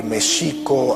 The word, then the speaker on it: México: Tenochtitlan, les comentaba que Mexico, así es como se pronunciaba en el México prehispánico, la X no se pronunciaba ni J ni X, sino Sh. El acento estaba en la segunda sílaba, Mexico Tenochtitlan, no Tenochtitlan.